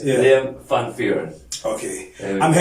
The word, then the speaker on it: Van Vuuren: Oh, okay, because it was separated. Yes. It's not one word. It's hyphenated. So it's Yeah. Liam Van Vuuren.